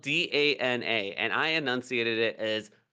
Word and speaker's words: Dana: boy's name in this video game is uh it's spelled D A N A and I annunciated it as Donna.